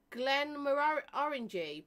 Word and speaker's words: Glenmorangie: Right, so Glenmorangie, pronounced as orange, just right.